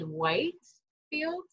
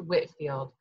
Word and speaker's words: Whitefield: I think you might have said Whitefield, but it's actually pronounced Whitfield.